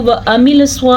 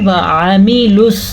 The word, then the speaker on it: وَعَمِلُوا: وَعَمِلُوا الصَّالِحَاتِ، وَعَمِلُوا الصَّالِحَاتِ، عین کے تلفظ کا دھیان رکھنا ہے۔ اگر کوئی اس کو وَعَمِلُوا الصَّالِحَاتِ پڑھتا ہے، وَعَمِلُوا پڑھتا ہے تو ٹھیک نہیں ہے۔ ہم نے اس کو پڑھنا ہے وَعَمِلُوا، واو زبر و، عین